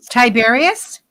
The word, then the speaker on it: Tiberius: It rhymes with Siberius. Tiberius?